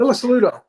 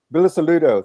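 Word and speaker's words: Bilusaludo: We want to try to pronounce that. Bisudo. Bilis Saludo.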